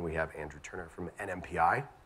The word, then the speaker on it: NMPI: We have Carly French from Dish, and we have Andrew Turner from NMPI. Said it right? Not NIMPY, by the way.